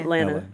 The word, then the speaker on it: Atlanta: But if you're from there, from there, both of the T's are silent. How How would No, it's just like just like Atlanta. Atlanta.